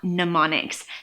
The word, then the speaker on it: mnemonics: want to talk about mnemonics that's funny little word with that silent em at the beginning so nobody can ever